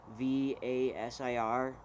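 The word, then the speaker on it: Kvasir: sorry it's spelled k v a s i r but it's just you just don't pronounce the k it's just vasir um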